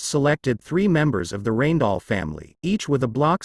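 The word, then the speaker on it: Rijndael: The advanced encryption standard AES also known by its original name Rainall Dutch pronunciation RIDLE 3 is a specification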